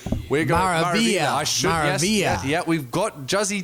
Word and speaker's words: Maravilla: Have I pronounced that awfully? We're going Maravilla. I should. Maravilla.